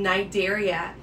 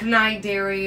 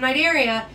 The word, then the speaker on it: Cnidaria: talking about the phylum night area it is pronounced with an n even though it is spelled with a cn so make sure that